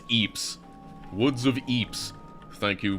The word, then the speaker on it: Ypres: me so long to realize that that was pronounced Eeps. Like, I was pronouncing it the whole time, like for years since I listened to them. I thought it was like wis, like Cypress, like Wrus, but no, it's Eeps.